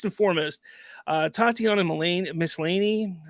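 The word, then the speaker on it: Maslany: foremost uh Tatiana malane miscellany I think is how you say her name she is absolutely great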